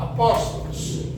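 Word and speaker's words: ἀπόστολος: Apóstolo, do grego. Apóstolos. Apóstolos. Assim se pronuncia em grego.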